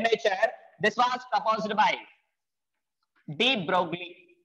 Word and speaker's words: de Broglie: This was proposed by de Broglie. If L is considered as silent, we can say it is as de Broglie.